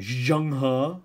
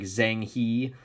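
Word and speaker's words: Zheng He: leader of their fleets was this guy named Zhang Han which I know looks like Zhang he but it's pronounced Zhang ha and today what you guys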